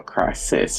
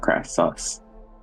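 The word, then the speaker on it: Krasis: a s i s Cris no Cris not crus I if my life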